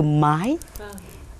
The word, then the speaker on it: mãi: đôi khi cái từ mãi nó không được phát âm thành từ mãi mà phải hát thành Từ mái đấy là âm nhạc